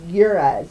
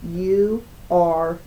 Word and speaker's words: Uruz: U-R-U-Z. Uruz, I think is how it's pronounced.